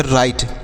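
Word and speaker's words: write: इसे क्या पढ़ेंगे तो यहां पर देखिएगा डब्लू साइलेंट है आर से पढ़ेंगे र आई से आई पढ़ेंगे टी ई से टॉ पढ़ेंगे तो इसे पढ़ेंगे राइट डब्लू आर आई टी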